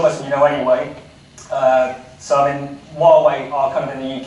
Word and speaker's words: Huawei: and Honour, and that's the right way of pronouncing Huawei actually, so it is Huawei.